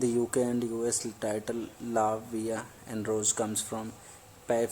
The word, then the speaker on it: La Vie: today we are talking about अ मूवी name लावे and rose so without wasting अ time let's